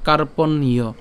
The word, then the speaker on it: কার্পণ্য: উচ্চারণ করি কেমন হবে কার্পণীয় এখানে আমরা দন্তন্য পর্যন্ত উচ্চারণ করলাম হ্যাঁ কার্পণ অর্থাৎ মূর্ধন্য সরি মূর্ধন্য পর্যন্ত উচ্চারণ করলাম এবং যে জ ফলা আছে জফল উচ্চারণ ইয় উচ্চারণ করলাম তাহলে কার্পণ্যয় কার্পণ্যয় এরপর দোষ একসাথে দোষ